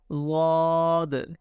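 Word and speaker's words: ضاد: Okay, I'll try to say Dwad. You can say Dwad. Sides of tongue and roots of upper molar right there.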